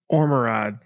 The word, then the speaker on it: Ormerod: Ormerod. Did I say it right? Yeah, no, that's perfectly said.